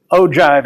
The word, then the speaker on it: ogive: part of the lecture Oh jive is how you pronounce that Oh giv e it's